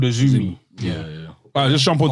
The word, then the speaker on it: AZM: And Azumi is spelled AZM, but she likes to be called Azumi.